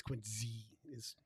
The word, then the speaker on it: Quincy: It's not spelled with a Z, but it's pronounced with a Z.